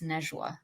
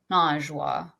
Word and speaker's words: Najwa: And so, yeah, to this day, if someone gets my name wrong, I'll say to them, actually, it's Nejwa, not Najwa, or.